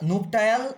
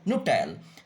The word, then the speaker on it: nuptial: তো মোটামুটি এগুলোর দু রকম উচ্চারণ আমরা পাই, একটা নুপটায়াল আর একটা নিউপিটাল। তো যে যাই বলুক, NUPTIAL আমরা বলবো নুপটায়াল।